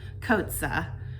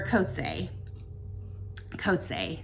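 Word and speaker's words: Coetzee: is um Summertime by JM Kota or coot coot is is how it's pronounced I believe um and this one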